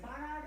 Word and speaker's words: Barnard: Is it Barnard or Bernard? Any way you say is okay with me, but I pronounce it Barnard.